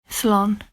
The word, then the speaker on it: Slán: And here's how you say goodbye, Slán. Goodbye in Irish sounds a bit like so long, doesn't it?